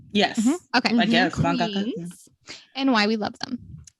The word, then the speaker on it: mangaka: So let's talk about our favorite mangaka. Is that how you say it? Yes. Mm-hmm. Okay. I guess mangaka.